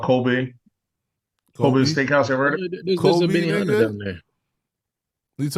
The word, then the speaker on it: Kobe: No, it's Kobe. No, it's spelled.